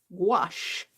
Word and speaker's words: gouache: in there wash wash i had to learn how to pronounce it i don't i don't know how i was pronouncing it before but it's pronounced wash all right let's get